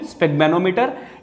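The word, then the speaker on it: sphygmomanometer: Clear है, स्फिग्मेनोमीटर, इसकी pronunciation स्फिग्मेनोमीटर।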